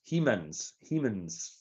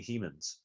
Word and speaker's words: Hemans: Yes, Hemans. Think Castle of Grace. Tony has just told me how to pronounce his surname. Tony Hemans.